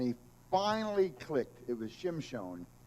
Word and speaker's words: Shimon: help and and he finally clicked it was Shimon it's so funny that the Jews I'm going